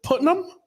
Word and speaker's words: Putnam: murdered your name enough is it putam putam putam spell it right it's perfect it doesn't always happen